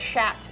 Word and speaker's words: chat: word for hatat actually only they say it different cuz they got weird voices yeah they say it like shat that's interesting I think